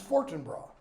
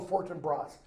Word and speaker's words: Fortinbras: And he mentions Fortinbras, or Fortinbras. You can pronounce it either way.